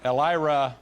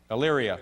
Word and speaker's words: Elyria: Elira, Ohio. I'm not pronouncing that correctly, am I? Elyria.